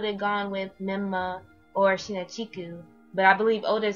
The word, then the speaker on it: Shinachiku: for foreigners to pronounce sheena chiku is not that hard is no different from chica mario or all other ones but whatever